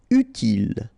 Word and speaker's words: utile: Utile. Final E not pronounced, so utile.